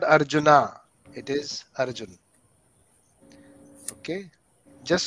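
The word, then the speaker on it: अर्जुन: written like that arjuna so westerner says arjuna that's fine we should say arjun krishna arjun okay all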